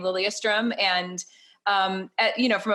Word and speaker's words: Lilyestrom: actually so cool and you don't pronounce it like a yes you pronounce it lilia strum did i say that